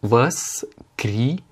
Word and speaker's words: воскресенье: Alors là, le O n'étant pas accentué se prononce comme un A, et le premier Y, donc le kré, se prononce kri parce qu'il n'est pas accentué non plus. Par contre, le Y à la fin, qui n'est certes pas accentué, se prononce quand même Y, étant donné que cette règle ne s'applique pas aux Y quand ils sont à la fin des mots.